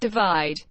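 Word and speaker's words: ÷: and best pop solo performance sheeran's third album pronounced divide was released in march 2017 and was the best-selling album worldwide of 2017.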